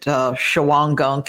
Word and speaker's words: Shawangunk: There's some caves in some people pronounce it Shawangunk. It's apparently Shwangong Mountains to the west of Pine Bush.